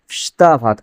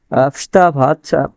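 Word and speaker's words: вставать: আচ্ছা, এখানে মজার একটা বিষয়, সেটা হচ্ছে দেখেন, ফ্স্তা ভাত, এখানে প্রথম যে অক্ষরটা আছে ভে আছে, প্রথম অক্ষরটি কি আছে? ভে আছে। অথচ এই ভে এর উচ্চারণটা হচ্ছে না। উচ্চারণটা হওয়ার কথা হচ্ছে ভেস্তা ভাত। ভেস্তা ভাত মানে কি? ওঠা বা জেগে ওঠা। তো এখানে এই ভে এর উচ্চারণ না হয়ে কিসের উচ্চারণ হচ্ছে? ভে এর উচ্চারণ না হয় এফ এর উচ্চারণ হচ্ছে।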